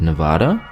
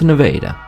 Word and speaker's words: Nevada: french palace its Versailles how about the town of Nevada that's named I've said the other one that's right there in America right the Missourians pronounce it Nevada no it's Nevada the town of Lebanon